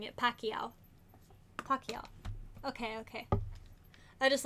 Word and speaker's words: Pacquiao: so that is how i was saying it pacquiao pacquiao okay okay i just like to make sure that i'm pronouncing things right it's pronounced homophobe oh my